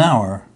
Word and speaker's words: hour: exceptions for example an hour an honest man here the H is silent or a university a